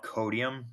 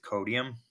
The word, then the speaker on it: Codeium: It's called Codium, not to be confused with Codium, both of which I think, as far as I know, are pronounced the same. The one I use is CODEIUM, and the other one is CODIUM.